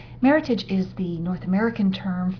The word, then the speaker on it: Meritage: other from the old world bordo's muton C Meritage is the North American term for Bordeaux blend involving grapes such as Cabernet sool Cabernet Fran Mero Malbec and petite fdau and yes it is pronounced Meritage not the more sophisticated but completely wrong version